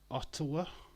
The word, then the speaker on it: Ottawa: his shape back there Ottawa is how you say it Ottawa Ottawa y One